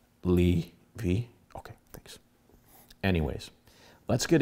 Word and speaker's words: Levi: Did I pronounce that right? Levi.